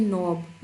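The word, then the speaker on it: knob: अब यह देखिए नोब। इसमें भी हम के को साइलेंट रखते हैं।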